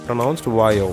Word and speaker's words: Vaio: It is how it is pronounced, Vaio.